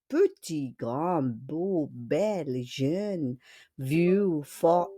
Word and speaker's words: grand: L'adjectif grand. Grand. On ne prononce pas le D, non?